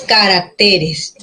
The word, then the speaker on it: caracteres: se queda grave ya el acento pasa del singular en carácter ahí llegaba la fuerza de voz en caracteres la fuerza de voz recae en t grave que termin